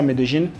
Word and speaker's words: Medellín: Medellín, ils disent, ça se prononce comme ça, Medellín.